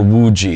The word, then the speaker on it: Wuji: When we talk about proper posture, in Chinese philosophy, it's called Wuji. It's spelled W-U-J-I.